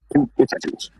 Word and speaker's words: Buttigieg: Oh gosh, pronounce his name for me. It starts with It's Pete Buttigieg.